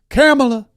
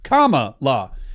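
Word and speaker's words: Kamala: It's comma like the pron, you know, the uh apostrophe and law like law, comma, law.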